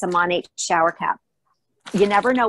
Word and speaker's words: Monat: So it's Modern Nature, or Monate is how it's pronounced.